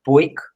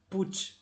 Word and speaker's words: Puig: Sé que vosotros allí decís Puig o algo así, pero el apellido se pronuncia, en catalán se pronuncia Puig, Puch. como si acaba, Puig, como si acabase en CH.